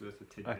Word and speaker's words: Merthyr Tydfil: It's a V, not an F, it's Merthyr Tydfil.